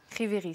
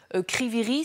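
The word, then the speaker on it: Kryvyi Rih: intérêts pour les russes kryviy rih c'est comme ça que ça se voit ça se prononce je parle sous votre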